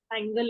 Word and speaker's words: angle: what is the difference angle and angel angel yes G in the word Angel there is soft soft G rule but in the word angle it's not there okay so whenever you have